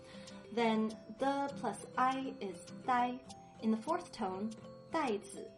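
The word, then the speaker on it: 打: First up, the plus a, that makes da, and if you put it in the third tone, da means to hit.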